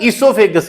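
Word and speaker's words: oesophagus: इसको ना इससोफेगस ई से शुरू करना है अपने बोल में। ओ साइलेंट है।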